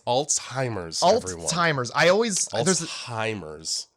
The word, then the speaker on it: Alzheimer's: those of you at home how is it pronounced it's Alzheimer's everyone timr I always altimers z alz h